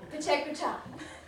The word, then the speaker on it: Pecha Kucha: But first things first, how do you pronounce it? Well, it sounds something like this. Pecha Kucha. Pecha Kucha. Pecha Kucha. So, Pecha Kucha.